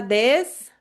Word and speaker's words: です: Ah, esqueci de falar da pronúncia do des também, né? Des também. Esse u no final você pode cortar, falar só assim, des.